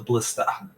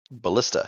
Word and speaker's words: ballista: let's take that list the blister is that how you say it ballista yes yeah take the ballista